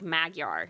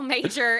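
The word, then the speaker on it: Magyar: should spell it because my name is really weird it's major but it looks like magar so l m a g y a r yeah at shreport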